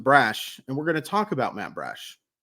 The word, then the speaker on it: Brash: And what a perfect time to do it, because stash rhymes with Brash, and we're going to talk about Matt Brash.